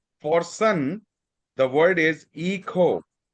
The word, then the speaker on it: hijo: For son, the word is echo. Eco. Echo. We pronounce it as E.